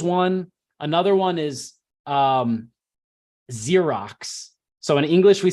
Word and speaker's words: Xerox: if Z if uh if x is at the beginning of the word we pronounce it like Z but in Russian they